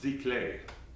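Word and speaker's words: giclée: well it's spelt geekly GI Clee but it's pronounced Z clay and it's a candidate a textured canvas that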